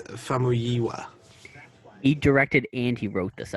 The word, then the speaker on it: Famuyiwa: It's Famuyiwa.